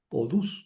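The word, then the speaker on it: ὀδούς: Se alarga en u. Odus quiere decir diente.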